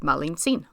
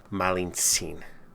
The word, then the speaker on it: Malintzin: from Veracruz the same region of Mexico as Malintzin.